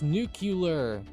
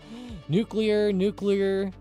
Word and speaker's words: nuclear: A lot of people react strongly to the pronunciation of the word nuclear as nuclear. It gets on their nerves. And it's true that nuclear is considered stigmatized, meaning that while some educated speakers say it this way, others think that it's questionable or unacceptable.